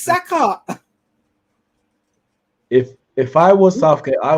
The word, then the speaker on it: Saka: Like, how is Sacco training and his name is Saka?